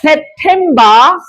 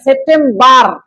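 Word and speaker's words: September: আমরা এবার ওয়া ওয়া ওয়া আগস্ট, আগস্ট, আগস্ট, সেপ্টেম্বর। শেষের আর উচ্চারণ হয় না, সেপ্টেম্বর আর উচ্চারণ হবে না, ঠিক আছে?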